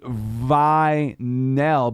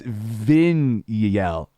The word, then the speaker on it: vinyl: word to spell because you would think it would be vineel but it's vinel yeah yeah right isn't